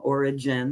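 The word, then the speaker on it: Origen: of different perspectives and Oregon is one of them origin if you want to pronounce it that way was one of those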